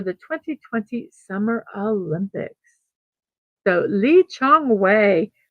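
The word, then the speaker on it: Lee Chong Wei: 20120 Summer Olympics so Lee Chong way 42 years old today or is it Jong way do I say it with the Z Lee Jeong way I believe is H the correct pronunciation is my apology for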